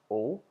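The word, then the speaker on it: aux: plural countries we use Au ux which is pronounced as o but um when it comes before Val you makes the z sound so here we have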